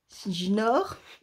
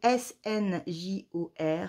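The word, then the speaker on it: Snjór: Sinjinor. Ça se dit Sinjor. Sinjor. Sinjor. Snore, snore, snore.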